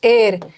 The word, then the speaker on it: heir: पता ही है कि नेस्ट को नेस्ट मत पढ़ना है इसका एच साइलेंट है जैसे एर एर का मतलब होता है उत्तराधिकारी तो एच साइलेंट है एर पढ़ेंगे उसी तरह यह भी